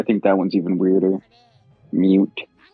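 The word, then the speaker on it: Mewt: Mute. Sounds like newt, kind of. Like the lizard.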